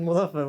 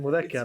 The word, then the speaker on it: مذكر: I don't know why you said mudhaffar when I said mudhakkar. It's very close to Muzaffar, man.